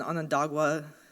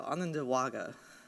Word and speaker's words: Onondaga: contemporary lands of the Onondaga I said it wrong so I'm going to try again I've been practicing there you go Ananda Wagga or the people of